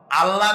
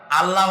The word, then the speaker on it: আল্লাহ: বলেন তো আল্লাহ নয়। কিন্তু আল্লাহ হচ্ছে অশুদ্ধ। শুদ্ধ হচ্ছে আল্লাহ। বলার সময় মুখটা গোল হয়ে যাবে।